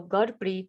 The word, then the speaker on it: Gurpreet: uh my name is gurpreet so godbrit is actually the correct way to pronounce my name why can you trust